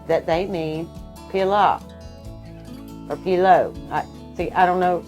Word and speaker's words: pilau: is a Pila uh how did they say it pilo it's spelled p-i-l or a u and then s plural